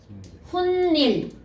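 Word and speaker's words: 훗일: 후플러스 1 발음해 봐. 훗닐 받침에도 니은이 붙고 뒤에도 뭐야? 니은이 들어가는 거 알겠죠?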